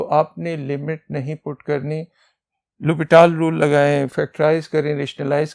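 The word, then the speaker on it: L'Hôpital: लिख देता हूं एल तो इसमें एच साइलेंट होते है लुपी टल रूल तो लुप टल रूल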